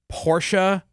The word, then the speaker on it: Porsche: It's pronounced Porsche, 2 syllables.